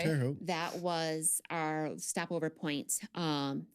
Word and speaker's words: Terre Haute: So if I offend somebody, I'm sorry, but it's at Terre Haute or Terre Haute. Yeah, you said that right. Terre Haute.